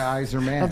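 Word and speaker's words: Eisermann: name steve weiserman no it's a wiser plan by eiserman can't you understand that the eyes are planned by wiser men yes i got it so it rhymes you don't say his name twice it's it's all right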